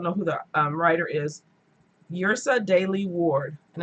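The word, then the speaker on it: Yrsa Daley-Ward: Yrsa Daley Ward, and it's spelled Y-R-S-A.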